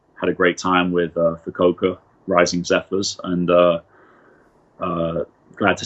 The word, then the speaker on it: Fukuoka: Is that how you pronounce it? Yeah. Yeah, Fukuoka.